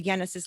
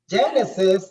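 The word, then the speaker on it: Yenesis: on social media learn more about the the genesis leadership training just give us all of your um social media and stuff handles please definitely thank you nina you're so good thank you genesis the word genesis is like the bible word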